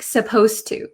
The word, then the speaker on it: supposed to: pronounce supposed to um the d sound and the t sound become kind of like one sound so when i speak supposed to supposed to it doesn't sound like there's a d that is why many